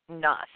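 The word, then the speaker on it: Knuth: Nuth. And Nuth is spelled K-N-U-T-H.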